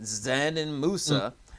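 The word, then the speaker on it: Džanan Musa: And the Pistons even made a trade yesterday, trading Bruce Brown to the Nets for 21-year-old, I think it's pronounced, Zanin Musa, and a 2021 second-round pick.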